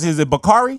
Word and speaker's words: Bakari: How do you pronounce it? Is it Bakari? Bakari. Bakari.